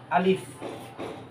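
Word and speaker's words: ألف: চলে যাই এই যে আলিফটা দেখতেছেন না এই যে আলিফটা আলিফটা উচ্চারণ হবে আপনার এখান থেকে আ মানে এই যে গলার শুরু থেকে আ দিয়ে শুরু হবে আ এই যে দেখেন আমি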